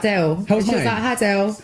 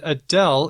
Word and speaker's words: Adele: and I was like Adele they do Adele Adele Adele Adele Adele so like a little kid like with a W kind of sound in there I mean wow no